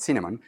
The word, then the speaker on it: Cinnamon: That's a short name for that, and we pronounce that Cinnamon.